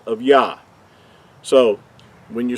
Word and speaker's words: Yahuah: The first two letters are pronounced as Yah. In the English letters, we would use the YAH, which will give us what these two letters would sound like.